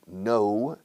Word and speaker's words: know: El verbo to know, con K muda al principio, know, se pronuncia igual que la negación.